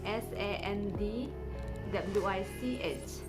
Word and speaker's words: sandwich: be given of sandwich s-a-n-d w-i-c-h sandwich in this word the letter d is silent uh the letter d is